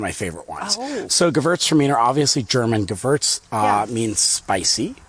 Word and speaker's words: Gewürztraminer: It's Gewürztraminer. So the W is like a V.